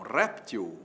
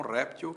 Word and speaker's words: réptil: O jacaré é um réptil ou é um reptil? Você vai dizer que é um réptil que é a forma mais usada. Pois é.